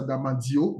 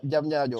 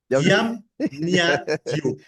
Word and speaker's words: Diamniadio: Tu as le data center qui a été mis en place à Damandio. Damandio, j'arriverai à le prononcer correctement. Diamniadio, au Sénégal. Je vais vous aider, Fabrice. Diam Nia Dio.